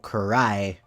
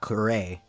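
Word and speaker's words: 喰らえ: for Genji's Japanese pronunciation, it's technically pronounced Ryujin no Ken wo Kurai, and not Kurei.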